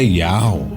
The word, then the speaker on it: Yahweh: A semelhança entre esses nomes é Yahweh.